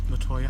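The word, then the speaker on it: Latoia: somebody all right guys what's your name latoya latoya how do you spell that l-a-t-o-i-a do you feel comfortable saying giving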